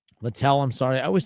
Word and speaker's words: Littell: Brian Weaver says that Abbott should be the day 2 starter, not Lytle. Littell, I'm sorry. I always say his name wrong.